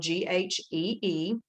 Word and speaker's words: ghee: butter now ghee butter spelled g-h-e-e and pronounced ghee is butter it's just